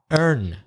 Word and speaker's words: urn: cremated person one second I thought urn was was gone out high you're right same pronunciation but different spelling e eh RN and